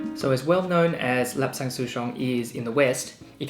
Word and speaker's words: Lapsang Souchong: The name Lapsang Souchong is actually derived from the local Fujianese dialect for this tea, Lapsang Souchong.